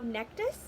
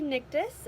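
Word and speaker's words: Nektas: there's those things um just like how nectas is actually nictus and that's gonna be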